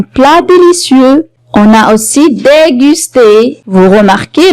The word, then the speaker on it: déguster: On a aussi déguster. Vous remarquez, la lettre G est suivie par la voyelle U. Alors, on la prononce comme G.